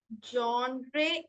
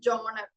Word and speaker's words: genre: So what I could find is ജോണർ. Okay, ജോൺറേ എന്ന് പറയുന്നത് I haven't heard, it ഇസ് ജോണർ.